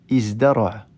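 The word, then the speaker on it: ازدرع: Mais c'est pour ça que ces deux verbes, ici, vont subir cette transformation, et donc on dira plutôt izdahama et izdara'a.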